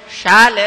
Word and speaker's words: ಶಾಲೆ: ಶಕಾರದ ಸ್ಥಳದಲ್ಲಿ ಸಕಾರ ಉಚ್ಚಾರ ನಿನ್ನ ಮಗ ಎಲ್ಲಿ ಹೋಗಿದ್ದಾನೆ ನನ್ನ ಮಗ ಶಾಲೆ ಹೋಗಿದ್ದಾನೆ ನಮ್ಮ ಹೇಳುವ ದಾಟಿ ಏನಾಗಬೇಕು ಶಾಲೆ ಅಂತ ಆಗಬೇಕಲ್ಲ ನಮಗೂ ಶಕಾರ ಸಕಾರ ಎಲ್ಲ